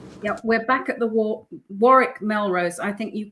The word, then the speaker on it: Warwick: Yeah, we're back at the war Melrose. I think you call it the Warwick Melrose, don't you? We pronounce both W's.